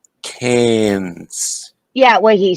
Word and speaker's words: Cairns: coming out with the cairns karen's no it's ir what would it be carrion's it's okay air with a c and an n cans yeah what he said